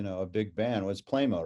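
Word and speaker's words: Pleymo: a big you know a big band was playmo right is that how you say it yeah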